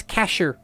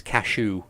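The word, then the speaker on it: Kashew: He explains his name is Cashew, as in the nut. Spelt like the nut or spelt with a K for pun purposes? Spelt with a K for pun purposes. Cashew, the traveling Deku merchant.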